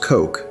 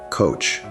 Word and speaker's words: Koch: Number nine, Koch, pronounced Koch in German, though But Americans say coach.